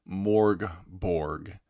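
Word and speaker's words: Mörk Borg: name of this game I pronounce it morg Borg like the bodies in the morgue Borg because this game is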